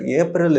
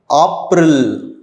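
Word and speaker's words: April: ஏப்ரல் வந்து same தான், ஆனால் ப்ரொனவுன்சியேஷன் டிஃப்ரெண்ட். ஏப்ரல் இல்லை, ஆப்ரில். மேக்கு வந்து மே இல்லை, மாய்.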